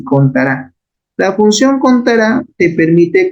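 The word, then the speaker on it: CONTARA: se llama la función contará no lleva tilde pero se pronuncia así contará la función contará te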